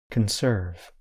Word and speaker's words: conserve: parts of the words in the verb conserve I stress the second part of the word listen again conserve in the noun conservation